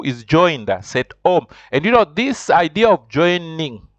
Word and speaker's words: cet homme: You have to say cet homme.